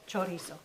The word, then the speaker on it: chorizo: Chorizo.